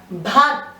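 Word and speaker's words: भक्त: The first one is bhat. Here it is half k. That means you do not pronounce the k fully. You just touch upon it.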